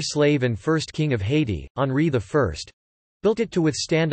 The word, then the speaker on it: Haiti: There are different anglicizations for its pronunciation such as high t, high et and ha et, which are still in use, but Haiti is the most widespread and best established.